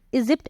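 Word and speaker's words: Egypt: इजिप्ट, इजिप्ट एक country का नाम होता है, तो वहां पर जी के बाद देखिए वाई आ रहा है, इसलिए हम वहां पर क्या प्रोनाउंसिएशन करेंगे, ज प्रोनाउंसिएशन करेंगे, यहाँ पर हम बोलेंगे ज।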